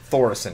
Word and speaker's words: Thoris: or possibly other cards I have to correct you it's thoran thoran okay thoran thank you no problem no when it when it comes to when it comes to pronunciation nip that in the butt immedately a lot of people there's there's a guy it's that pronounces it Thor kissian and Thor thoris got it yeah thoris yep uh uh